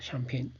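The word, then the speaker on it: Champaign: 유명하고요 유라고 줄이기도 하고 샴페인이라고 샴페인 챔이 아니고 샴페인 이렇게 발음하는 대학의 박사과정으로 입학을 했습니다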